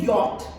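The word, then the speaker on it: yacht: याच को हम बोलते हैं यॉट, राइट?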